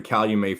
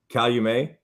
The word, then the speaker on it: Calumet: farm i guess not so it's how you met and not call you may yes well left you